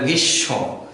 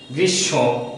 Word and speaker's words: গ্রীষ্ম: দিত্য, এখানে গ্রীষ্ম, অর্থাৎ স দুইবার উচ্চারণ হবে কিন্তু ময়ের কোনো উচ্চারণ হবে না, এই ময়ের জন্য আমরা চন্দ্রবিন্দুর সাহায্য নেব।